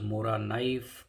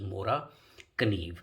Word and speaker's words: Morakniv: So what I learned is in English they call it as mora knife, and in Swedish they call it as mora kniv.